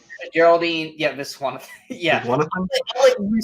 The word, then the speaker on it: Viswanathan: But good luck pronouncing it. Geraldine Viswanathan. Geraldine, yeah, Viswanathan.